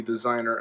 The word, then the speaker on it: DZNR: little emblems on there this is pronounced designer so da DZ in our designer and on the back